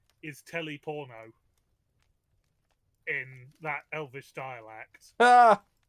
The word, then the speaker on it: Teleporno: names of the dialects, but his name is Teleporno in that Elvish dialect. Ah! Yeah. Yes, it's spelled like it as well because it's Teleporno.